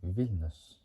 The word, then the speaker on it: Vilnius: It might be the same for the capital of Vilnius, or Vilnius, as we pronounce it.